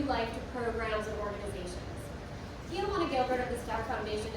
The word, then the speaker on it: Kyajuna: It is Kyajuna, like Tijuana, Mexico, with a K, not spelled like that. The only thing that makes sense on the name tag is Juan. So Kyajuna, if you call me